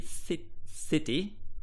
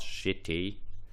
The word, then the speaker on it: city: This should be si city, not shitty.